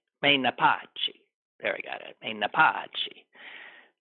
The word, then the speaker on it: Menapace: I think I'm pronouncing that right. Menapace.